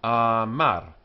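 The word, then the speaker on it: אָמַר: Amar, he said. Amar. Note the accents on the end, but the first vowel is long.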